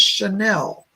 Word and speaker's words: Chanel: hear a girl saying my name is chanel like the designer it's not coco chanel it's a different but it's a young girl